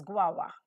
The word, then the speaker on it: guava: tree go over Goa it is also pronounced as guava guava but I would like to pronounce it as gova because my teachers taught